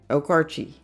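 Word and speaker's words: Okarche: Kyle says you pronounced it right. Just pronounce the E also. Okarchi.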